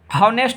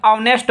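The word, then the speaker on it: honest: यहाँ पर भी देखिए हॉनेस्ट नहीं बोलेंगे, ऑनेस्ट बोलेंगे, ठीक है।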